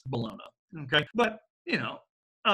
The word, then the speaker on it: Bologna: 10 anyway 88 the University of Bologna or more properly pronounced Bologna okay but you know I like to call it the University of Bologna because you know they